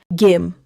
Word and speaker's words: 김: as the soup, and gim with rice. 좋아요. Now pronunciation. 김 is one syllable. The final consonant is the sound of 미음. So close your lips gently. Gim.